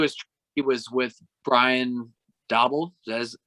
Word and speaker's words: Daboll: The big thing, too, is he was with Brian Daboll.